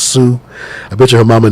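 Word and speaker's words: Szou: were veto his wife zoo and i'm spending like that because i know it's supposed to be pronounced sue i bet you her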